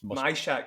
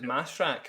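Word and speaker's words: Majchrzak: It's Myshak. It's Myshak, apparently. Myshak. I thought it was Mashak, but it's Myshak.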